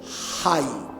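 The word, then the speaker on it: חי: La palabra vida en hebreo se dice Hay.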